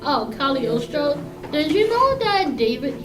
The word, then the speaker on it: Cagliostro: It's spelled Cagliostro, but it's pronounced Cagliostro. Oh, Cagliostro.